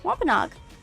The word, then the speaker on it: Wampanoag: Yeah, Wampanoag.